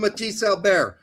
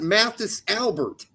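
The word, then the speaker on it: Mathis Albert: If my mama calls If his mama calls him that, that's what we're going to call him. Pete. Come on, Pete. Get on it. It's not Matthysse Albert.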